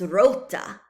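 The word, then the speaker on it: roote: In modern English, it's root, but in Middle English, it's rota, rota. So there's that vowel shift where we've gone from ruta to root, rota, to root.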